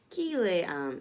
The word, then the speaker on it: Cillian: Her name is pronounced SZA, according to the なるほど、experts at Babel, and the first name of the Irish actor Cillian Murphy is pronounced Kilean.